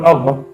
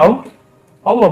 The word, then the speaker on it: Allah: Orang Arab pun nyebut Allah. Orang Arab yang Kristiani nyebutnya Allah, bukan Allah.